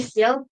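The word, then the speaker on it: Steele: go steel how you pronounce it how you pronounce Peter Steel's last name actually steel yeah you know no it's just it's just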